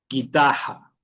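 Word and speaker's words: guitarra: Y la g y la u que hac el sonido de la g normal. Guitaja.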